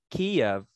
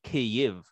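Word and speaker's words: Kyiv: is the proper perspective kiev is how you say kiev in russian in ukrainian you would say k if so the proper spelling would be k y i v uh it would make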